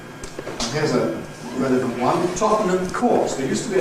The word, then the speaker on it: Tottenham: Full form is Tottenham. Syllabic consonant formation changes n to n, giving Tottenham. Compression removes the syllabicity at the end, giving Tottenham, which is the usual fast pronunciation, Tottenham. T before N, nowadays increasingly a glottal stop, so we end up with the pronunciation Tottenham Court Road.